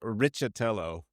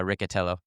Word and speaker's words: Riccitello: Is it Ricatello or Richello? It's I think it's Ricatello. It's been Americanized.